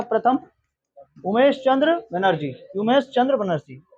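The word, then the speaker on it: Womesh: उमेश चंद्र बनर्जी, योमेश, योमेश नहीं, डब्ल्यू नहीं कोई। अगर हम तुमको बोले कि क्या लिखा है, पढ़ता है ना, ये साइलेंट हो जाता है ना, वैसे डब्ल्यू वहां पे साइलेंट। हाँ, उसको हम लोग क्या पढ़ते हैं? कनाइट नहीं पढ़ते हैं, कनवा लेज नहीं पढ़ते हैं, ये साइलेंट होता है। वैसे इसका भी डब्ल्यू क्या है? साइलेंट।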